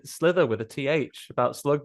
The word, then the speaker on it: Slither: Slither, not Sliver, not that one where